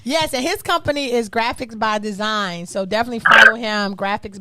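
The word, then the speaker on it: Graphix by Dzine: Yes, and his company is Graphics by Design. So definitely follow him. Graphics by Design. It's spelled differently. GRAPHIX like X-ray by Design by BYDZINE.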